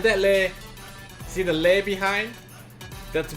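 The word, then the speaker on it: leh: Yeah, L-E-H, by the way. It's pronounced lay.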